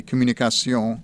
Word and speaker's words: Communications: its name communications somehow when pronounced with a french accent as it should be communication it seemed entirely acceptable